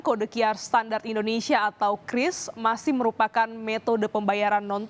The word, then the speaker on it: QRIS: Krisna sebenarnya apa sih Kris Bagaimana bacanya jadi Bacanya adalah Kris ya Saudara bukan curis atau QR Bukan tapi Kris ini merupakan